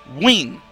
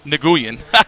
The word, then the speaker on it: Nguyen: You know, I was one of those guys like, long fee Nguyen. That's not how you say it. The N is silent. It's silent. Win. Yes. It's win.